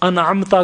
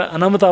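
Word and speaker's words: أنعمت: ٹھیک ہے، تو انعمتا کو کسی نے اگر انمتا پڑھ دیا تو کیا حشر ہوگا.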